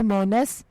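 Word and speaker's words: Monas: उर्दू मानी है जन्नत और बाग नाम है मोनस स्पेलिंग है एम ओ एन ए एस मोनस नाम के उर्दू मानी है दोस्त और साथी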